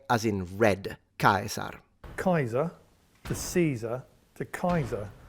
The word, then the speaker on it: Caesar: Well, this is pronounced Kaiser. Please correct me if you're German speaking. But the Latin name, even though it's very similar, would be Caesar. Caesar. So the S is a S sound, so not vocalized into a Z.